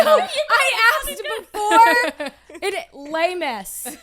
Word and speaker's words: Les Miss: Les Miss. Yes, the S is silent.